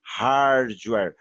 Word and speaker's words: hardware: Então eu falo hardware. Reparem que eu puxo meio que um R aqui, né? Eu puxo meio que um R. Hardware. E esse where aqui, ó, aqui a gente, no normal, a gente poderia ler var e tal. Não, eu leio mesmo com um R também, né?